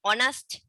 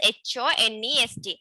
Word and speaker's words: honest: That means H-O-N-E-S-T. But we pronounce it, when we pronounce it, it gives a vowel sound.